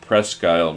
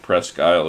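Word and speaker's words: Presque Isle: this person is from Pres Skyle, Maine. Uh, but if you're actually from Maine, you know that Pres Skyle is spelled P R E S Q U space I S L E.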